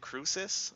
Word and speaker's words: Crucis: and butter being informed I use pronounce it Cruces I think not Chris yes Cruces lusus Cruces